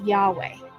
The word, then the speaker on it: Yahweh: The Lord's name is pronounced by most biblical scholars and Hebrew linguists as Yahweh.